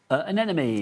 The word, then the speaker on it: anemone: Anemone. That's it. Do you know how to say that? No, what's that's what I'm saying. No, but what's the opposite of a friend? An enemy.